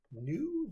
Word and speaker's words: knew: we already knew this knew this with a silent k by ftc1 so a